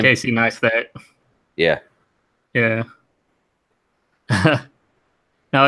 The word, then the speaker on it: Casey Neistat: Casey Neistat.